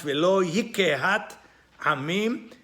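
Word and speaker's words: וְלוֹ יִקְּהַת עַמִּים: more eloquent, letiferet hakeriah, so it's pronounced velo yikehat amim. The sheva under the kof becomes a sheva na.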